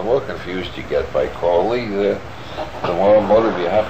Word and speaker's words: Crowley: My name is Aleister Crowley, because that I am holy. My enemies say Crowley and wish to treat me foully. So now you'll never forget how to pronounce it. It's Crowley.